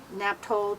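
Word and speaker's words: Naphthol: And mixed with Naphtol Golden Red Light. That's how you pronounce that.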